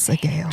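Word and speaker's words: Sgaeyl: He saved Sigel too, because if Violet dies, then Taryn dies, then Sagel dies. So Sagel bagel. I keep saying it wrong. Sagel. It's Sagel.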